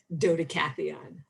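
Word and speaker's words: Dodecatheon: dota catheon which is a far more fun name to say dota catheon five syllables dota cathy on oh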